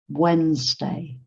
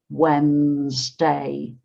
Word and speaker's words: Wednesday: Wednesday, Wednesday. This is a funny word because it looks like Wednesday, but it's just pronounced in 2 syllables, Wednesday, Wednesday.